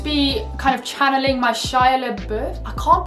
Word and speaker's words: Shia LaBeouf: And now for step 8, I'm going to be channeling my inner Shia LaBeouf. See that pronunciation there?